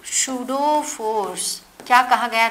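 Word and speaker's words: pseudo: है जिसका नाम था सुडो फोर्स यहां पीस साइलेंट है समझ में आया जो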